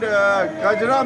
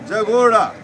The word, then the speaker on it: Kajra: So Chakthani is mispronounced as Chativavo and Kajra mispronounced as Jagoda.